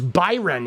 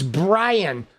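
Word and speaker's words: Bryon: I thought it was Byron. It's Brian. My bad. Dude, I see I've even been saying his name wrong. Dude, it's Brian. Oh my god. Dude, excuse me while I say his name for like the first half of the video. Pardon me because I am so like like unaware of this dude. It's Brian, spelled like Byron like a dyslexic Byron.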